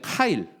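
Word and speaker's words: חַיִל: 좀 우리가 알아야 되겠는데 발음은 이제 카일 또는 하일이라고 이렇게 발음을 하고 원래 그 남자에게 쓰는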